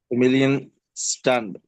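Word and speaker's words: Familienstand: आप मैरिड है अनमैरिड है क्या है आप फमिलियन स्टंड व डन फमिलियन फमिलियन स्टंट या जब भी या जब भी डी एंड पे आएगा तो आपने उसको टी प्रोनाउंस करना है।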